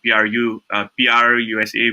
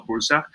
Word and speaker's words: Prusa: There's another design which is by PRUSA, which people call Pursa.